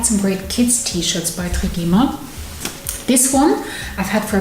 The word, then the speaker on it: Trigema: I should probably say Trigema. That's how you pronounce it here in Germany. It sounds a bit odd in English.